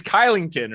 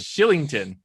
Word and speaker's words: Kylington: Because his name, I'm like, what nationality pronounces their K with as an S? Because you see it, you think it's Kylington, right? Right? Yeah. Oh, that's how it's said. Oh my God. Shillington.